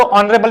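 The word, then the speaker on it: honourable: क्या नहीं, क्यों, क्योंकि ये एच क्या रहता है मेरा चलो साइलेंट, क्या रहता है चलो। जैसे देखो और या तो ऑनरेबल मैन कर दो इसको, है ना, ऑनरेबल क्या हो जाएगा मैन।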